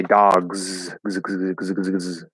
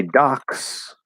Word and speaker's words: dogs: many trees um or if i say dogs right it's voiced if i say docs just like a pier or something in a bay it's going to be an s docs docks dogs docks dogs docks okay now